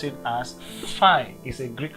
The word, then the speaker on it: Phi: or you have something like this and we pronounce it as Phi is a Greek letter or Greek word fine